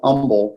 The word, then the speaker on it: Humble: and the city of Humble which is spelled h um ble but we don't pronounce the H on the fourth side